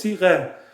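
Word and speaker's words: صیغه: Then I'm gonna divorce her according to a prenuptial agreement called temporary marriage contract called sireh in Persian. 2 syllables, sireh.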